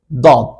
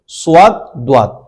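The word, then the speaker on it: ض: আর তারপরের তারপরের হরফের নাম হচ্ছে দদ। সদ দ। অনেকে ভুল করেন যারা ছোটবেলায় শিখেছেন বা বিশেষ করে গ্রামের মানুষ যারা কোরআন শেখায় তারা এভাবে শিখায় সদ সদ এগুলো ভুল উচ্চারণ এখনকার যুগে এগুলো আর চলে না এখন সুন্দর করে উচ্চারণ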